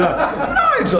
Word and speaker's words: Nigel: There's no American in Nigel. I have to say it right. Nigel.